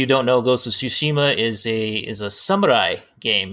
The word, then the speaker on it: Tsushima: Ghost of Tsushima, I'm guessing that's how you pronounce it, because I had a second grade teacher named Mrs. Tsushima. That is correct. And yeah, Ghost of Tsushima, release date, there's a trailer that just came out today.